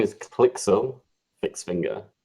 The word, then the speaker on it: Klyxil: so his name is click so fix finger so kind of clicks like clicking a button and then ill like you know someone